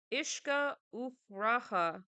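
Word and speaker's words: uisce fhuaraithe: widely across the island the way I would say it is ishka Raha damn how the that's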